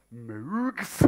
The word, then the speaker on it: Moog: Moogs. Is that right? Armstrong. How do you pronounce it? Moog. Like Moog. Moog. Yeah. Like in Rogue. Rogue. Rogue, yes. With an M. Yes. Yeah, Rogue with an M.